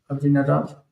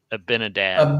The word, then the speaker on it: Abinadab: Jonathan Benadab is how you say it in English. Uhhuh. Abinadab and they all died. I It's hard to say it in English because it sounds like hick accent. Abinadab.